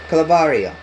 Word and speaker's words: Calvario: We're learning about Calvario. Now this curse, to pronounce it is, we say call var eo.